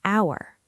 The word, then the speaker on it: hour: Because the H is silent, so the first sound is actually ow, like hour. You got it. The H is completely silent in hour, so your ear hears a vowel sound, and that's why you use an.